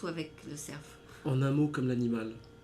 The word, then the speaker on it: Lecerf: sa prononce ou avec le serf en un mot comme l'animal d'accord c'est le le serf le surf donc tu prononces le F d'accord oigé pas obligé